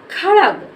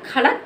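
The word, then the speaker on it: खड्ग: इसका शब्द बनेगा जाके खड़ग क्या बनेगा खड़ग खड़ग इसका शब्द हमारा बना जाके खड़ग अगर इसको खड़क पढ़ेंगे तोय हमारा गलत हो जाएगा तो हम इसको पढ़ेंगे खड़ग क्या पढ़ेंगे इसको खड़ग खड़ग क्या पढ़ेंगे खड़ग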